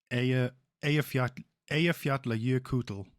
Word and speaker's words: Eyjafjallajökull: And then the one that everyone struggles pronouncing, the one that erupted in like 2010, is Eyjafjallajökull. Eyjafjallajökull.